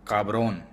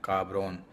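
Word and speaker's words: cabrón: तो वो काब्रोन, CABRON, काब्रोन. ये मैं स्क्रीन के ऊपर लिख कर भी लिखूंगा भी स्पेलिंग, ताकि आप उसको याद कर सकें.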